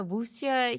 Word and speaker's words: 武侠: I don't know how to say this, a wuxia hero?